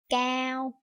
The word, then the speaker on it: cao: Unlike that, in Vietnamese, for example, the A and R together, that is pronounced ow. That is pronounced like out in any other words. Like for example, in this word chào and in this word cao.